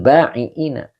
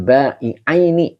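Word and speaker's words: للبيعين: Lil ba'iina. Bukan ba'ina ya berarti ya. Lil ba'i'aini. Nah itu yang lebih tepatnya.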